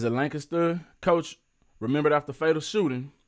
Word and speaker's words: Lancaster: I know it's pronounced Lancaster in other places, but here in Texas, it's pronounced Lancaster, and you always have to pronounce it like the locals pronounce it.